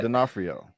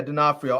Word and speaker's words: D'Onofrio: I can never pronounce his last name right, but D'Onofrio. Yeah, D'Onofrio.